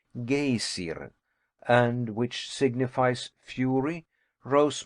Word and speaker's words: Geysir: The geyser, a word the Icelanders pronounce geysir, and which signifies fury, rose majestically from its summit.